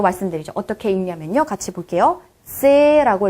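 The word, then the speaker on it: ц: 세라고 읽어주시면 됩니다. 세 약간 신기하죠? T 그리고 플러스 Z 요 정도의 발음이라고 생각하시면 되겠네요. 한글로 친자면은 쌍지읒에 가까운 소리지만 한국어는 그냥 쯔 발음이라면 얘는 조금 더 T와 Z에 가까운 세 발음인 거예요.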